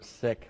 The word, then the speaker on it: Sikh: on South Hall um we are now using the pronouncer sick we have been using the term seek we did not do